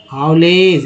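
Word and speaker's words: haulage: हाउटी, हाउलेज, ए के बाद ई आया तो ए का उच्चारण ए फिक्स हो जाता है, ऐसे ए जी ई को एज बोलते हैं, एल के साथ लगा तो लेज हो गया ना, हाउलेज।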